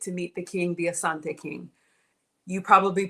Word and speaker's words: Asante: Naming ceremony, and we get to meet the king, the Asante king. You probably pronounce it Ashanti, but if it's on your bucket list, and yes, there's payment plans.